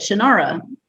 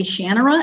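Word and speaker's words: Shannara: the shanara series and you say it like I say it shanara and when I started listening to audiobooks later the narrators always say shanur and it drove me crazy no I'm never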